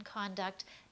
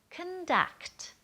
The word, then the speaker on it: conduct: or bad conduct again stressing the con in conduct that means the thing but if you want to make it the action then we're going to say conduct and we're going to stress and really pull out the vowel in the duct part the second part all right one last